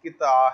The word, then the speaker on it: قطعہ: ہے۔ پھر بتاتا چلوں کہ قطعہ فی زمانہ لوگ پڑھ لیتے ہیں، کچھ لوگوں کے ہاں رائج ہے یا اس کو وہ جائز سمجھتے ہیں، لیکن حقیقی طور پہ، بنیادی طور پہ اس کا تلفظ قطعہ ہے۔ تو آگے بڑھتے ہیں